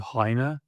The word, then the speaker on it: Heine: Moving to the right, this guy who I think is relatively not well known, someone called Heine is, I believe, the correct pronunciation.